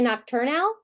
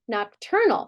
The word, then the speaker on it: nocturnal: Nocturnal. Do I say nocturnal? No, what do I say? Nocturnal. So what's happening here? We're flexing to that schwa.